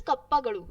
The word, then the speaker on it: Kappagadu: Next is Kappagadu. So for pronouncing this, it's little difficult, but you can still do it. So please say Kappa, then Gadu.